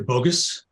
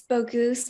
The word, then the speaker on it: Bogus: Bogus. Oh, it's Bogoose, Mr. Weasel. It rhymes with goose.